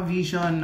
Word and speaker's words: VXON: Ang vision pronounced as vision is five member Filipino boy group under cornerstone entertainment.